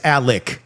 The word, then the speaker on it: Alex: But it's Alec even though it's spelled Alex.